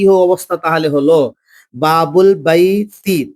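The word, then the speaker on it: بابُ البيتِ: তাহলে আলিফ লাম, এই আলিফটা পড়াতে আসবে না, লেখার ক্ষেত্রে আসবে, একে বলা হয় হামজায়ে ওয়াসাল। তাহলে দুটো শব্দ যখন পাশাপাশি মেলাবো, অর্থাৎ আমি আরেকবার বলে দিই, ইসিম লাম তারিফ, অর্থাৎ আলিফ লামের পূর্বে কোন শব্দ আসতে গেলে আলিফটা উঠে যাবে, পরের লামের সঙ্গে মিলিয়ে পড়তে হবে বা বুল বাইত।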